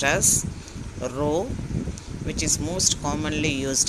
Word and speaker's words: rho: The final symbol is pronounced as rho, which is most commonly used in correlation coefficient.